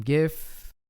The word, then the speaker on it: GIF: we have a custom gif with a soft g because jif is a peanut butter but we won't get